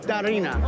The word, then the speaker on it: Darina: Darina.